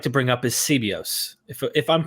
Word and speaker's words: Sebeos: to bring up is cbos if i'm pronouncing that correct is it sebios i i would say sebeos okay i want to